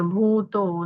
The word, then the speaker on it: भूतो: न भूतो न भविष्यति, भू दीर्घ है, उसका उच्चारण दीर्घ करना है, और कुछ बाकी सब ठीक है।